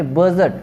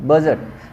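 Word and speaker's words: budget: वैसे यहाँ पे प्लमर, यहाँ पे बी साइलेंट है, यहाँ पे सीजर, सीजर, यहाँ पे सी साइलेंट है, यहाँ पे बजट, जी साइलेंट है, बजट, बजट, ठीक है, सॉरी यहाँ पे डी साइलेंट है, बजट।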